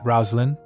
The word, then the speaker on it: Roslin: Melkure said Roslin. He said, "Let's call her Roslin. That's how you pronounce the name Roselene in the east."